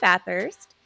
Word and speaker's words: Bathurst: Bathurst.